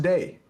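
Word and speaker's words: Dai: I know how it's supposed to be, but it's pronounced day. His name is pronounced day.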